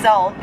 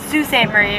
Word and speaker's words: Sault Ste. Marie: Marie, Michigan, because everyone thinks that when they pronounce where we live, it's Salt, but it's Sault Ste. Marie, Michigan.